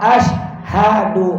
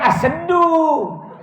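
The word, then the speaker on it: أشهد: 123 Ashadualla Ilahailallah wa Asyhadu anna muhammadar rasulullah Hai betul-betul bacanya ashaddu asyhadu alla ilaha illallah asyhadu bukan asem do as Haduh Abdul Rajab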